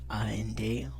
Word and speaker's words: and: Et vous pouvez l'entendre un peu, mais d'habitude, on ne prononce pas le D au fin de and. A-N-D, on le prononce and.